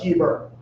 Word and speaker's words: Heber: Like Hebrew, but Heber.